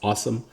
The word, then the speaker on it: Asim: After that, they drafted Awesome Richards, which is pretty cool that his first name is spelled ASIM, but it's pronounced Awesome.